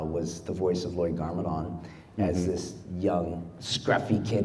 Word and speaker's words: Garmadon: You voice Lloyd Lloyd Garmadon. Am I pronouncing that right?